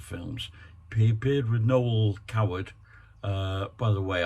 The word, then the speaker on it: Coward: He appeared with Noel Coward. By the way, I did pronounce Noel Coward as Noel Cowell the other day.